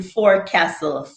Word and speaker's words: forecastle: It says R exists in forecastle. Forecastle. I pronounce the R. Only to mock landlubbers.